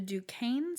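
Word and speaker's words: Duquesne: The Dukane spy ring. Okay. It's spelled like the university in Pittsburgh.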